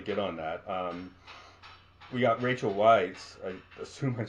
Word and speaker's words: Rachel Weisz: Just to quickly get on that, we got Rachel Weisz.